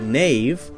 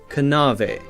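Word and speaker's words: knave: in english were pronounced a word like nave k-n-a-v-e would have been pronounced something like kanave kanave now we have a silent k so we don't say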